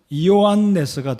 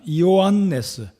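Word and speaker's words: Ἰωάννης: 이 요한의 헬라어 발음으로는 이오안네스가 됩니다. 이오안네스.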